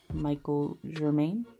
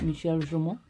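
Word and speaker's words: Michel Germain: and this is by Machado Journal, I believe is how you pronounce it, and I guess in regular Americanized English it would be like Michael Germain, but Michel Journal.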